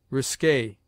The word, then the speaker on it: risque: never followed by you Q is sometimes sounded in words derived from the French like K as conquer liquor risque Checker r R has